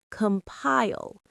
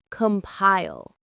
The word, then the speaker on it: compile: Compile. It rhymes with smile. Compile.